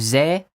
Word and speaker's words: ze: So we have ze, zek, zen, and zem. Ze, zek, zen, and zem. You can think of this almost like saying they with an accent.